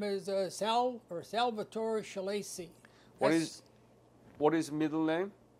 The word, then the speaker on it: Schillaci: l l a c i how do you pronounce it again shaly shaly right is this uh what is the